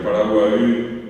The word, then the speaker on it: Paraguay: palabras y otras más ustedes tienen que acentuar siempre al final o sea sería Paraguay Uruguay bien pronunciado guaranía claro ya nuestro